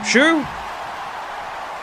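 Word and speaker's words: Xu: Mimi Shu.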